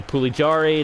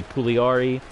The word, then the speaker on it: Pugliari: go quick but sometimes i say pooly jarry it's obviously pugliari cooley rv um